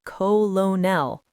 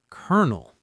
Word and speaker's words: colonel: But the actual pronunciation is kernel.